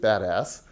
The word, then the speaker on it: BDAS: Berkeley data analytics stack the acronym is bdas and we pronounce it badass and um yeah and